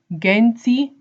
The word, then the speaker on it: Genti: pronunciation of Genji audio so our brand is pronounced as Genty gen T are not Genty or any other